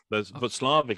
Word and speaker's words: Watzlawick: Václavic is spelled Watzlawick, which is how I always thought it was said.